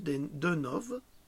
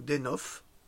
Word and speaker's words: Deunov: absolument remarquable qui s'appelle Peter Konstantinov Denov, ou Denov, selon la prononciation qu'on peut avoir, ou Benza Duono.